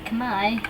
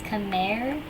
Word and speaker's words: Khmer: So like Khmer, so that's why, and then the R is just silent at the end. You don't say the R.